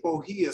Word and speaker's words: bohea: I say bohea so that you can all sound it out and then write it.